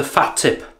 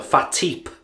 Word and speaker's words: FaTip: Right, someone asked in the comments, could you use the FaTip or the FaTip, as I suppose it should be pronounced.